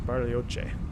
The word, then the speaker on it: Bariloche: I'm gonna say it like he says, Bariloche.